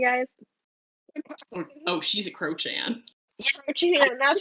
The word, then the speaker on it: Crochan: do you she guys oh she's a croan croan that's how you say it I it's thank